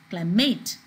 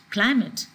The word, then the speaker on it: climate: for example climate you don't pronounce it as climate you pronounce it as climate the stress is on clyde knowledge most two